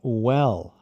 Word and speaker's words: well: Bem é well. Well. Aí tem aquele L no final. Well. Well, Não well. Isso é como o português. Com o L aberto.